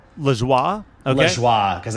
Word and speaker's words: Lajoie: I think it's pronounced John Lajoie. Lajoie? Okay. Lajoie, because I think it's a French Canadian name, and he looks familiar to me.